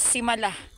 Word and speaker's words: Simala: So, Simala. Ayun yung tamang pronunciation. It's Simala.